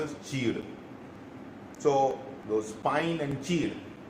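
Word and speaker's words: चीड़: The pronunciation in Hindi is cheed. So many times the pronunciation do really get haphazards. Understand it, we are trying to say something which is called as cheed.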